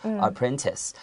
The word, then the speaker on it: apprentice: bake better okay so even though it has a t-i-c-e ending it's pronounced like an s apprentice he left the pretzels